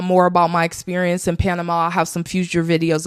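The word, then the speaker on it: Panamá: There's an accent on the end of the A at the end of Panama. Panama.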